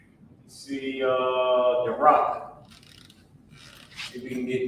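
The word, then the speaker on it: barak: All right, the rock. That's how you pronounce it. B-A-R-A-K.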